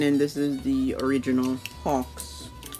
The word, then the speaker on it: Hacks: this is the original Hawks. Hawks or hacks? Hacks, Hawks. I say ox. The way it's spelled, H-A-C-K-S. You may say Hawks, Hawks or ox.